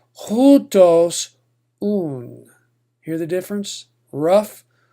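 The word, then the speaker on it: οὗτος: So instead of otos, you would pronounce this hutos. Give it a rough H sound, hutos.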